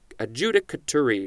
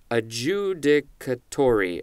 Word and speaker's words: adjudicatory: that's a noun and a Judah Judah Kotori no this is not how it's pronounced where's the where's the emphasis adjudicatory adjudicatory that is the adjective